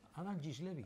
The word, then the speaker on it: Adam Gislevy: ¿Cómo se pronuncia? ¿Has dicho? Adam Giles Levy. Adam Giles Levy. Ah, Adam Giles Levy.